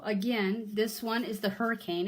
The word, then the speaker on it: Hricane: It's a Hricane is what they pronounce it as, even though it's not spelled quite that way.